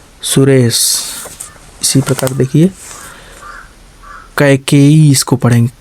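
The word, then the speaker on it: Kaikeyi: सुरेश, इसी प्रकार देखिए कैकेयी, इसको पढ़ेंगे कै, का के आई के ए आई, कै का के ए के ई, के ई वाई आई, बड़ी से आई ना या डबल ई, ठीक। तो कैकेयी, इसको कैकेयी, ठीक।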